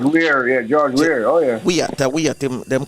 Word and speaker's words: Weah: Weah, them call him Weah, George Weah.